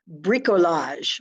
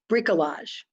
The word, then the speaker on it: bricolage: notice and come back a french cooking term bricolage i'll spell it for you b-r-i-c-o-l-a-g-e bricolage it's the art of using whatever is